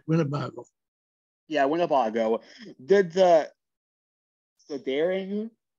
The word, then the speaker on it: Winnebago: Martina White Bear, a young Winnebago woman. I did not pronounce that right. Yeah, Winnebago.